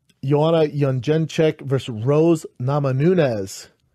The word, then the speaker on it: Jędrzejczyk: So, you had Neil Magny, Chiesa, I think is the correct pronunciation of his name. Joanna Jędrzejczyk versus Rose Namajunas.